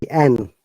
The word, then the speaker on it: and: should be pronounced only "n," not "and." Okay, "n." That is the rule of the connected speech and the professional reading. Okay, it should sound like "n," not "and."